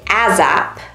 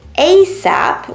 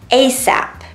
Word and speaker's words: ASAP: In French, a lot of people say ASAP with a Z sound, but in English, we say ASAP with a s sound. ASAP.